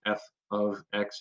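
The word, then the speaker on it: f(x): or h of x this is pronounced f of x even though there's not the word of there um that means someone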